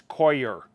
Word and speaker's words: coir: And I retorted, no, you're being coyer than I am. You got it. It's Coir.